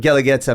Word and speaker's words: Guelaguetza: the actual word um it's spelled gu e l a g u e t z a uh that hence why and the use are silent they have the two little dots on top and the I think